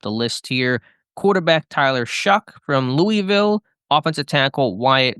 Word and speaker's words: Shough: The things people know about Tyler Shough is that it's pronounced Shough, is the pronunciation of the last name, even though it looks like Shough.